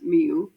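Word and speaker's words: Millau: where will it be kind of part of that journey led me to a place called Milo pronounced Mu locally where I completely fell in love with the landscape.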